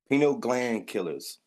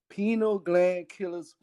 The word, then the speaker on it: Pineal Gland Killers: I believe it's Pino. I want to say it right. Say the name of the record label for me one time. I want to make sure I say it right. Pineal gland killers. Pino Gland Killers Records.